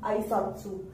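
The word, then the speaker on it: あいさつ: The last pronunciation of the alphabet is not su but tsu. The tongue should be twisted and it should be coming to the upper gums. It should be touching the upper gums. Then only we will be able to pronounce this particular alphabet correctly. This alphabet is known as tsu.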